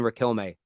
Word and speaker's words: Riquelme: Yeah, it is right as I pronounce it. Juan Roman Riquelme.